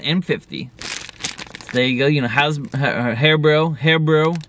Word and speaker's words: HARIBO: Terry was like, hey, man, it's pronounced HARIBO. It's not pronounced Hasbro.